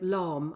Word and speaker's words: Lahm: And that was the earliest opening goal of any World Cup since 2006, when Philipp Lahm, I think that's how you pronounce his surname.